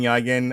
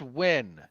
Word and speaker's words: Nguyen: It's pronounced Win. How the fuck would I know that, nerd? You Philistine. John Wynn of Nerd Reactor. I believe it's Vietnamese. That's Win.